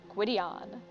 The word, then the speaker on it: Gideon: to men and women gidion gidion I would not have pronounced that that way this could be an issue I would have gone with Gyan like uh Gideon like that I'm still probably going